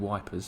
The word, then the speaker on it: Ypres: We went to a place called Ypres, which apparently is what the soldiers called wipers, because it's spelled Y-P-R-E-S, and it's Yeah.